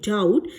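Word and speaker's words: doubt: एनी डाउट एनी डाउट डाउट की spelling देखिए डी ओ यू बी टी एस होता है यहां पर बी साइलेंट है डाउट डी ओ यू टी एस डाउट्स लेकिन बी यहां पर साइलेंट है प्रोनंसिएशन में नहीं आएगा स्पेलिंग आप करेक्ट इसे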